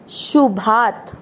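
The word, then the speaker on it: अशुभात्: खींचना है, श से शुभात, भा के साथ आधा त।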